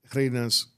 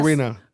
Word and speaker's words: Reina: did you open up Reina's Cakes? Or am I saying that right? Is it Reina or Reina? Reina's Cakes. Because I know Reina's more Spanish. Yeah, but it's either way.